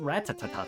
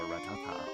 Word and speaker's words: Rattata: Same thing with Rattata. I pronounce his name like Rattata. Or Ratata, or Ratata. Depends.